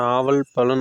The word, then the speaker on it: நாவல் பழம்: ஸோ அப்படி நாம் பார்க்க போகிற பழத்து பேர் தான் நாவல் பழம். அதாவது இந்த பழத்தை ஒரு சிலர் நாவற்பழம்னு சொல்லுவாங்க, நாவற்பழம்னு சொல்லுவாங்க, ஒரு சிலர் நாவல் பழம் அப்படின்னு சொல்லுவாங்க. அந்த உச்சரிப்புங்கிறது கொஞ்சம் டிஃப்ரென்ஸ் ஆகும்.